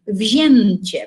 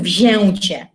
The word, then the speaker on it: wzięcie: też na przykład formę wzięcie, uwaga, tu troszeczkę inaczej wymawiamy, bo tutaj z kolei wymawiamy jak N, wzięcie, prawda, bardziej, a nie mówimy wzięcie.